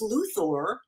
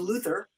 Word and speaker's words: Luthor: whatever kind of weiner we decided that we would call him lex luthor as opposed to luther yeah like that which